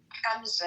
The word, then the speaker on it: Hamza: Hamza, not Hamza. We have to teach you how to say the ha correctly.